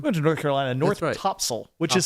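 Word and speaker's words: Topsail: We beat you guys went to We went to North Carolina, North Topsil, which is spelled top sale, but they insist on pronouncing it tops.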